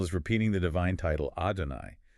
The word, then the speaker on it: Adonai: Sounds like Adonai, Shema. Adonai, Yeah. slash. It is a breathless, rhythmic pounding. Jewish tradition often vocalizes that divine name with a heavy stress on that final syllable.